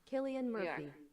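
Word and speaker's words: Cillian Murphy: uh what is it how do you say his name Killian Murphy is that right yes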